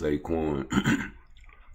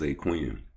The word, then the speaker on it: Zaquin: And when I first said his name, it was Zcoin. And the dog was like, "Man, no, it's ZQ."